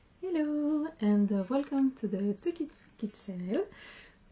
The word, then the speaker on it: TookyTsuki: Hello and welcome to the Tukitsuki channel. It's a little hard to pronounce.